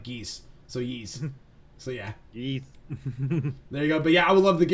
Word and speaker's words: Ys: It says Ys is pronounced Ys like geese, so Ys. So yeah, Yeeth.